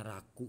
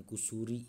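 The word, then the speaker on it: 楽: Nah ini dibacanya raku ya, jangan tertukar dengan kusuri ya. Ini raku minasan.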